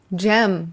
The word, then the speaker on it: Cem: Because the C in Turkish is like a G. Wow, we're already learning stuff about you. Okay. So it's Cem. Gem.